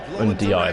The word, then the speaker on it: Ndiaye: Ndiaye, that's how you say it, apparently.